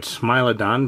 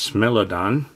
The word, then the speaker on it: Smilodon: I've always called it Smilodon, but some people pronounce it as Smilodon.